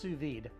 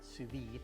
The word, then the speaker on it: sous-vide: sous-vide our meat and it's pronounced sous-vide that's with a d not sous-vide and this is an